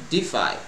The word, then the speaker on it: DeFi: provide decentralized finance solutions or defi pronounced defy to its users so